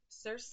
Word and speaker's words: Circe: So moving on, the next book is Circe. I believe that's how we're pronouncing that, by Madeline Miller.